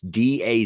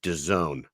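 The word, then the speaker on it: DAZN: it's D A ZN in no language is that pronounced Doone yeah he was really upset about it and he kept calling it dais that's he was like I'm calling it da because that's how it SP I'm not doing that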